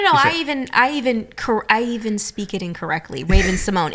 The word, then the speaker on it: Raven-Symoné: The correct pronunciation of my name is Raven-Symoné because there's an accent grave over the E, which is mostly in French-speaking countries.